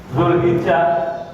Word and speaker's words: Dzulhijjah: Dzulhijjah ya pakai Z, ya, tapi kita bacanya Dzulhijjah, Dzulqa'dah atau Dzulqa'dah.